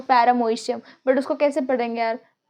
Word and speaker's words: paramecium: बट पैरामीशियम have, अब यहाँ पे ना ओ साइलेंट है, ठीक है, तो पैरामोइशियम, बट उसको कैसे पढ़ेंगे यार?